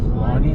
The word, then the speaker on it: Kluane: Kluane. I'm going to ask that at the visitor center. Is it Kluane? Klaune. How do you pronounce that in English? It's Kluan.